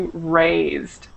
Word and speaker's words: raised: It should be raised. Raised.